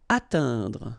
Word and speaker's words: atteindre: Atteindre. So remember when you combine this E, I, N together, you get the sound un.